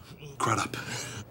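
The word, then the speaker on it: Crudup: Crud up. Really? Rhymes with shut up.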